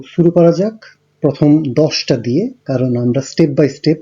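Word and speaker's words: due: 1 হচ্ছে উনো, 2 এর জন্য উচ্চারণটা হবে দুয়ে, 3 এর ত্রে, 4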